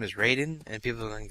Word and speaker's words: Raiden: yeah and then I'm going to call him Ryan even though his name is Raiden and people are going to get so mad